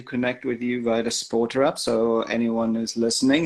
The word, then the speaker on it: SPRTER: Oh, I always pronounce it SPRTER, not SPORTER.